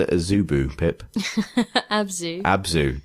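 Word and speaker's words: Abzû: a zubu pip abzu abzu not isubu the streaming service Abu good I don't actually know the exact pronunciation it's got a hat a circumflex over the U so could be anything I can't remember what that means let's call it abzu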